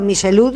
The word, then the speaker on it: Michelud: Estamos en comunicación con, vos me vas a decir si pronuncio bien el apellido, Michelud, que es codirector de la Asociación Argentina de Abogados Ambientalistas. ¿Está bien pronunciado Michelud? ¿Qué tal? Buenas noches, ¿cómo andan? Está muy bien pronunciado.